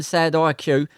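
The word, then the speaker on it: Sadiq: Now like me, I know you'll be glad to hear that Cameron Sadi pronounced Cameron Sad IQ of Amisham Road High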